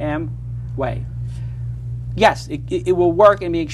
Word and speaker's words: Amway: mway is what yeah two syllables one word I have two syllables for you am way yes it it will